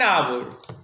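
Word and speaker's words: hour: अब ये वर्ड आपके सामने है आवर, आवर, इसमें एच साइलेंट है, तो क्या बोलेंगे फिर इसके साथ? क्या बेटा आर्टिकल लगाएंगे? एन आवर, एन आवर।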